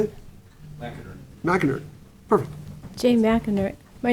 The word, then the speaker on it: McInerney: McInerney.